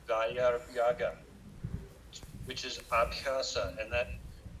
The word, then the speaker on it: Vairagya: Vairagya. Vairagya. V-A-I V-A-I-R-A-G-Y-A.